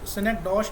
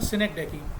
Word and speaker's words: synecdoche: इसका जो प्रोनाउंसिएशन थोड़ा सा मुश्किल है, सिनेक्डॉश लोग बहुत सारे बोलते हैं या कुछ और प्रोनाउंसिएशन करते हैं। इसका सही प्रोनाउंसिएशन है सिनेक्डेकी।